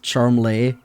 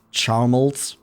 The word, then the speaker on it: Charmles: He himself says it's pronounced charmlay, but his father pronounces it Charmold.